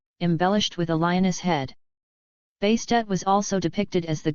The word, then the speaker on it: Bastet: additional feminine suffix, as Bastet. The name change is thought to have been added to emphasize pronunciation of the ending T sound, often left silent.